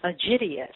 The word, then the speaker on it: Aegidius: name was linked to, the way I pronounce it is Aegidius, Aegidus.